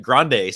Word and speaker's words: Grand: of people spell it Grande so yeah uh when I introduce myself or if I'm on the phone and they're like What's your name I say Grand like a thousand dollars not and um and